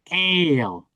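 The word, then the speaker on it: אל: El.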